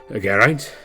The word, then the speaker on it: Gant: call me Gant cor said Gant I am saying it right Gant yes that is right so how do you